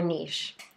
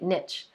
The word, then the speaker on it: niche: What about your niche? Now, I know some of you have been calling it niche, but I'm in France, so we're going to say it correctly.